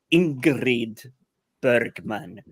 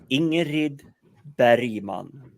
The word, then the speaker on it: Ingrid Bergman: different way but uh it's not Ingrid Bergman it's ingerid beriman thank you yes always yes native pronunciation the G is for English people should essentially be read as just a j and we're okay with